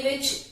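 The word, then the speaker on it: watch: Half विच L silent है, चौक विच भी L silent है, आर विच एच साइलेंट है और वॉच विच टी साइलेंट है।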